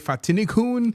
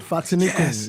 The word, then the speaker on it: Fatinikun: to do a quick introduction of who Fatinikun. Did I pronounce that right? You did. Fatinikun.